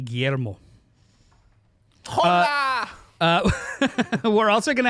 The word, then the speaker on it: Guillermo: How do you say it? Not how I just did it. Guillermo del Toro. Guillermo. Thank you. Guillermo.